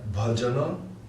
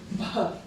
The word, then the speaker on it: bhajana: So it's Baha. Bha. But it's not Baha. It's like, It's like aspirated. chest. Slightly aspirated, like bah. From the chest.